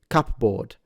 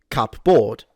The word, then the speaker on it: cupboard: know this, is that we will say, for cupboard, we'll say cupboard. We'll read them as separate because, if you think about it, independently, cup, board, cupboard. Instead, it's cupboard.